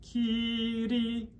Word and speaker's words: Kyrie: But if we flip it one time, Kyrie, which to me, I would teach it K-E-E, D-E-E with a soft D. Kyrie.